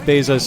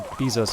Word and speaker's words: Bezos: this is something that Bezos uh or Bezos I think is the correct pronunciation I believe is actually